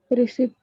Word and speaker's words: receipt: Receipt. Sit. Receipt. You people have to call it receipt. And which letter is silent here? P. So this P is silent.